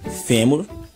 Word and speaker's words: fêmur: Nós temos álbum, fêmur, paranoico e heróico. Todas essas palavras, quando nós pronunciamos nós damos mais ênfase, nós colocamos mais intensidade na penúltima sílaba.